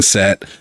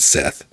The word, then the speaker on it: Set: I'm pretty sure that the pronunciation is for the Egyptian god, which I'm pretty sure is Set and not Seth.